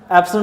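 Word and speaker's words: epsilon: पाई की value 22/7, एप्सिलॉन नॉट की value आपने ये पुट कर देनी। ये जो एप्सिलॉन है इस वर्ड को आपने प्रोनाउंस यूँ करना है, ये ग्रीक लैंग्वेज का वर्ड है एप्सिलॉन, ठीक है, और ये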